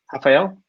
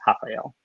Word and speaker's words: Rafael: uh in portuguese pronounced rafael and unlike spanish where double r's are like a hard r rolling sound uh it's an h sound in portuguese uh that trip trips